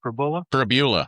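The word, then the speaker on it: Pribula: I just wondering if it's due to the money that Prabula, is that how you say it? Prabula, yes.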